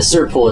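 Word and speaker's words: Tser Pool: And the Sur Pool, it's spelled Tser, is a kind of fills you in.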